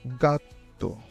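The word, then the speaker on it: gatto: জি যদি জি এর পরে আ ও উ থাকে, তখন এটি গ এর মতো উচ্চারণ হয়। উদাহরণ গাত্তো গাত্তো।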